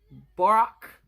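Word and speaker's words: Björk: I only know how to spell it. I don't know how to say it. Brock.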